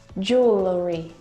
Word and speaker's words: jewelry: pack my clothes tonight jewelry jewelry jewelry again we've got an extra vowel here that we don't need to pronounce we don't say jewelry jewelry it's just jewelry and actually in american